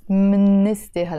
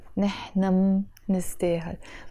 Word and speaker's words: منستاهل: and we deserve, ونحنا منستاهل. I'm pronouncing منستاهل just to show you that there is a meme there, but it should be pronounced انت كريم ونحنا منستاهل. نحنا منستاهل with the liaison.